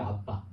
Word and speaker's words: 아바: 근데 원래 발음은 아바가 아니고 아빠예요. 아빠. 우리나라 아빠 똑같아요 발음.